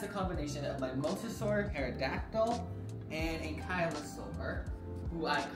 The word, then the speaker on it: Pterodactyl: Oh, that's a combination of my Mosasaur, Pterodactyl, and Ankylosaur, who I call MTA. The reason why I didn't put the P in there, because the P is silent.